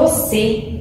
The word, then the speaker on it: você: Por exemplo, a palavra você, você. Então, o último, né? A última sílaba é mais forte, então ela é classificada como oxítona.